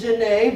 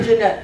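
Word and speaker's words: Jeannette: Dr Jeanette I know it's Janae but you need to say Jeanette you're looking at me like here's someone who doesn't know French it's true I don't know French but I know how to pronounce Janae but clearly you have to say Jeanette for the rhyme um just right you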